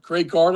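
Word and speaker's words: Greg Gard: Wisconsin coach who was it Greg Greg Guard Greg Guard is that how you pronounce his name?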